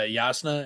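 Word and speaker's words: Jasnah: with uh yasuna is why spell it with a j like if you're going to make the j silent because like it's hard for me not to say pronounce the j yeah or like it's easier to make it a y as far as i'm concerned yeah but it's just you know if you're gonna pronounce it with the y spell it with the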